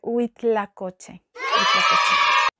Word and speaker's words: huitlacoche: tan mal fui huitlacoche tiene una h el principio creo que muchas veces en español h no se pronuncia así que debería ser huitlacoche nagua eso sí le